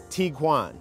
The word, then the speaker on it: Tiguan: Now, there's a little confusion over how exactly to pronounce this vehicle's name. So I looked it up, and it is Tiguan.